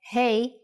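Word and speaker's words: ה: Doesn't hey from this lesson sound like hey in English when you say hello to your friends. That's exactly the sound for the Hebrew letter hey.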